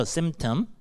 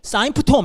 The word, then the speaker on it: symptom: 첫 번째, 것의 발음 symptom 정도죠. symptom. 근데 내가 만약에 사인프톰 이렇게 외웠다, 그럼 난 아무것도 안 들리는 거예요.